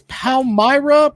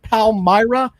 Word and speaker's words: Palmyra: Jackpot's wearing his Palmyra, Pennsylvania hat. Is that the correct way to pronounce it? Palmyra? Or is Palmyra, yes.